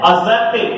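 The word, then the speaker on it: adjective: Dear students ध्यान रखना, कुछ स्टूडेंट गलती कर जाते हैं कि ये ए और जे के बीच में जब ये डी आ जाए तो जनरली इसका साउंड यानी कि इसका प्रोनाउंसिएशन में करते समय इसका साउंड नहीं आता है, तो इसको क्या बोलते हैं?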